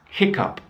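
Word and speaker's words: hiccough: a funny one and perhaps it may surprise you how it's written but it's hiccup so hiccup is that it's when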